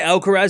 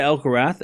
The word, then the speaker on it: Alcaraz: You can say Alcarz and you can say Alcarath and they're both correct.